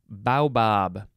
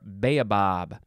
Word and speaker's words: baobab: a determined often reckless act now we have bow bob or baobab b-a-o it is a noun from 1640 a